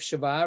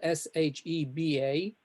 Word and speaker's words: Sheba: In the next one, we've got Shiva, and we've heard of Shiva, right? In English, it's spelled Sheba. Sheba.